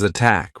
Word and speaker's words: attack: pot dot oh yeah pot versus attack right aspirated attack not aspirated pot bet cat there you